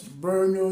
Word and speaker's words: Brno: So the first university I have right here is Brno University of Technology. Brno University of Technology. It's spelled as BRNO.